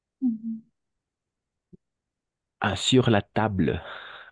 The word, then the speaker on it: table: Ah, sur la table. Pas tablé. Sur la Table. Table. Bleu, bleu, bleu, bleu, bleu. Et la L va terminar. table, Oui, c'est ça. table. No es tablé, sino sur la table.